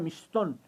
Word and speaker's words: Mixtón: Pero también se pronuncia Mixtón.